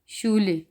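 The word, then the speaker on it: Schule: एस से हा शा, शे, शो, और इसकी मिसाल है शूले, शूले स्कूल, और शूला, शूला यानी कि स्टूडेंट।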